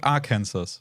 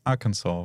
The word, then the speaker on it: Arkansas: to the US ships there's Kansas but then there's Arkansas but it's spelled this like it's not Aransas it's Arkansas because like some wow like old term from like a different language or I I forgot